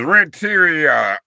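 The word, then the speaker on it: Renteria: He's like rent, you know, like rent your own. But it's Rentia. R E N T E R R A, baby.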